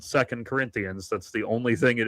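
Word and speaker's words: 2 Corinthians: completely not a Christian because he referred to second Corinthians as it is always pronounced as two Corinthians.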